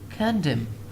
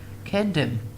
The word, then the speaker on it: condemn: Or if it is used after M, N is silent.